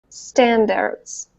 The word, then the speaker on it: standards: That second sound is not the "æ" of "stan-dards" it's it's this very subtle, very relaxed... it's like an "uh" in butter, "butter" "uh" "uh" but, it's even faster and smaller than that.